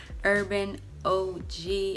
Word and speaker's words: UrbanOG: from this site called urban oh gee i believe that's how you say it that's how i say it that's how when they email me and say urban and an og so that's how i'm